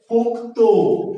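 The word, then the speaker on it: পক্ত: যুক্ত ব্যঞ্জনের শেষের ধ্বনিটা ওকারান্ত উচ্চারিত হয়, এটার উচ্চারণ হচ্ছে পোক্ত।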